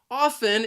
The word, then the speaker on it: often: frequently or many times it has two syllables and the stress is on that first syllable often the second syllable has that schwa sound which is an uh sound it is the most common sound in the english language and previously i i